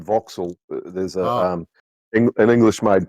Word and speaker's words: Vauxhall: have to tell you there's a car named a Vox. It's not spelled that way, but it says it's spelled Vauxhall and Vauxil.